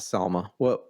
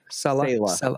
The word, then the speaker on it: Selah: And all the other translations will probably say it's not Selma. How do you pronounce it? Selah.